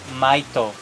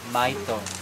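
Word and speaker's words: maito: the with the leaf we call it Mito m a i t o Mito we pronounce and with the leaves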